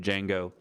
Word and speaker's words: Django: a de Jing go the D is silent Jango autopilot and see if